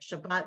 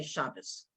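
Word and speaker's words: שבת: top that's two t's because we're pronouncing um sephardic like shabbat we don't say shabbos this letter is a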